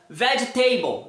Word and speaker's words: vegetable: Não, a palavra able só é pronunciada able se ela for individual, able. Mas se ela for parte de uma palavra maior, ela nunca vai ser a sílla tônica da situação. Então você vai falar vegetable. Vegetable. Vegetable é sempre umble.